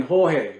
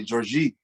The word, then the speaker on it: Jorge: like people don't understand it's portuguese because that we pronounce it differently at the end and brazil and brazil they actually say georgie they say georgie georgie really is different yeah their accent is